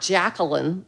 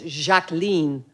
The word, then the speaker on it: Jacqueline: first name um uh pronounced as it would be in French not Jacqueline like we would say in English it's jacen on France right so